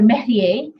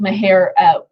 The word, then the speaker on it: Maher: So maher or mehrier is spelled different ways in the case law. It's typically called maher, M-A-H-E-R or M-A-H-R.